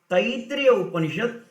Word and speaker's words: Taittiriya Upanishad: Many people, they pronounce it not correctly, so I am giving the pronunciation also properly. Katha Upanishad, which comes in the Katha Shaka, Taitriya Upanishad, which is the you know the story.